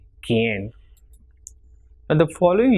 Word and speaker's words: quien: And if it is QUI, it will be pronounced as ki and not qui. So it will be quien.